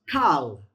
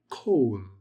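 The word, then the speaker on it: כָּל: So, if your word begins with, if the first letter of the sentence is a kamats, it's not pronounced as an a, it's pronounced as an o.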